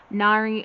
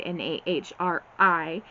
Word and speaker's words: Nahri: Nari, that's all I say her name in my mind, Nahri.